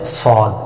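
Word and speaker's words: صاد: সদ হরফটা কিভাবে উচ্চারণ করতে হয়? জিহ্বার আগা, সামনের নিচে দুই দাঁতের পেট ও আগার সঙ্গে লাগিয়ে মোটা আওয়াজে উচ্চারণ করতে হবে, 4 আলিফ পরিমাণ টেনে।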